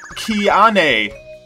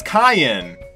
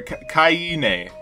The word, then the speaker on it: Kiane: It looks like Kiane, but it's actually pronounced as Kyan. Or Kyane. So Kyan.